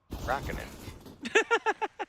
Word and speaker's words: Räikkönen: How do you pronounce it? Räikkönen. A little bit more twang in it.